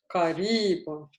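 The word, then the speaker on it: قريب: Look, with Karibon, where is your stress? Waar is je klemtoon? Karibon. Het Iep, Where? The second. The second syllable. Karibon. Mhm. Because that's a heavy syllable, right? It's a heavy syllable with a long vowel.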